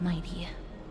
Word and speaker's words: Mydei: my own yes Lord Mighty thank you both I forgot his name is pronounced Mighty to get my bad